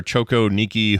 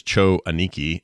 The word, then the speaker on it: Cho Aniki: everybody let's get our choco Niki hooky Haka going here shall we play a game the actual pronunciation is Cho aniki uh super big brother